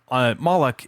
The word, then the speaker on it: Moloch: So Moloch is 2 syllables.